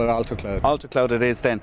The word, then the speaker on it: Altocloud: you pronounce it uh it depends which side the atlantic you're on but the americans say alta cloud most of my customers are over there so let's call it alto cloud alter cloud it is